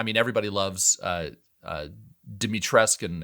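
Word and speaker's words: Dimitrescu: everybody loves uh uh dimitressk and everybody in my youtube comments corrected me that it is actually that that you do pronounce the you i don't know but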